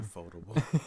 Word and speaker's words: Ufotable: I don't want to pronounce it wrong. Ufotable.